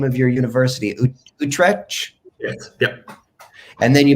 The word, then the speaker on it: Utrecht: a BA in film studios at, I can't pronounce the name of your university, Utrecht?